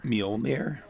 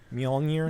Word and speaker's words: Mjolnir: Mjolnir. Mjolnir.